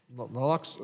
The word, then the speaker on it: naloxone: Uh this bill also will allow veterans access to uh naloxone Naloxone, is that what How do you say that?